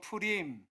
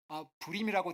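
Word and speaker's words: Purim: 우리 한번 따라해 보실까요 프림 프림이라고 하는 한글 성경에는 불임이라고 되어 있는데 히브리식 발음은 비읍 발음이 아니라 피읖 발음이에요 그래서 프레임이라고 하는 말은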